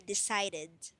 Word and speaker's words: decided: So what you'll need to do is make sure you pronounce the last letters ed. So the root word is decide. Past tense would be decided. Yeah. Decided. Okay, good. Yeah. Decided. Yeah, so don't forget to make sure that you pronounce that depending on the tense of the word. If it's present or if it's past tense.